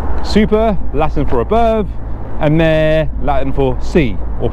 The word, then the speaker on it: mare: to the west, super, Latin for above, and mare, Latin for sea, or pronounced mare.